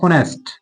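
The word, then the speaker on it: honest: ठीक है, अब देखिए स्टूडेंट्स एन ऑनेस्ट में जो है मामला थोड़ा डिफरेंट है, एच आपका यहाँ साइलेंट है, इसलिए हमने एन का यूज किया। ऑनेस्ट ओ का साउंड दे रहा है, बॉल का साउंड दे रहा है।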